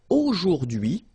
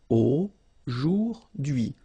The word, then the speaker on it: aujourd'hui: Okay, H is not pronounced, so you only get this dui thing. Aujourd'hui. Aujourd'hui.